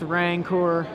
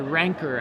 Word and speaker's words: Rancor: ink moth enchanted with rank or I'm sorry rancor I think it's the correct pronunciation we go to seven